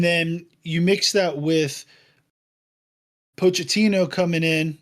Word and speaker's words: Pochettino: And then you mix that with Pochettino coming in, right?